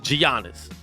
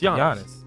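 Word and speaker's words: Giannis: 2020 are still saying Gianna's we all know what's the honest yeah they're like well there are in America but his name is not he doesn't pronounce the G yeah it's just young honest it's not that hard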